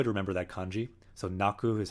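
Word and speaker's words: 泣く: So naku is how you say it.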